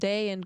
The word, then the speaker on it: dagen: So you have dagen, you have it with G. In some other languages you would pronounce this ga sound, no? But it's in Danish it's very soft.